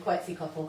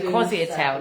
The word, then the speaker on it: Quetzalcoatl: Say his name. Quetzalcoatl. Quetzalcoatl. Quetzalcoatl. You used to say Quasi-Atel, didn't you? I used to call him Quasi-Atel.